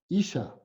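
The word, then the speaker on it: אשה: Buscamos la palabra mujer, la primera letra que aparece ahí no se pronuncia, sino que la siguiente. Y ahí es donde aparece como Isha.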